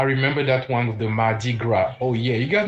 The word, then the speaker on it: mardi: Tuesday in French is spelled Mard. Mardi.